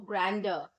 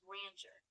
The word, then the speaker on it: grandeur: I just need the pronunciation of grandeur, whether it is pronounced as grandeur or grander. It's pronounced grandeur with a soft jerk on the end.